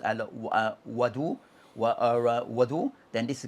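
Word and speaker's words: وَضوء: As for what is called what is pronounced as wadu or wudu, then this is concerning that the water.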